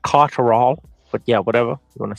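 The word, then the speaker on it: Catterall: I think that's thec it's pronounced Jack caral but yeah whatever you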